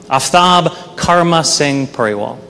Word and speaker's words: Aftab Karma Singh Pureval: The correct pronunciation of my full name is Aftab Karma Singh Pureval.